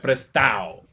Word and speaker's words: prestado: So something like prestado, which means like borrowed, it would be like prestao.